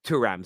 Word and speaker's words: Thuram: I was told earlier on today that I've been pronouncing it Thuram. It's Thuram. Sorry, my French is obviously terrible.